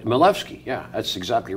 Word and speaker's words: Milewski: pronounced like oh look they're pronounced like a V huh like so it's finding their Levski like malevsky yeah that's exactly right